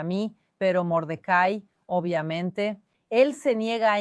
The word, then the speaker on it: Mordecai: se inclinaran ante él, pero Mordecay o Mordecai, Mardoqueo, tiene diferentes pronunciaciones. Yo voy a usar el hebreo Mordecai, que es más fácil para mí, pero Mordeekai, obviamente, él se niega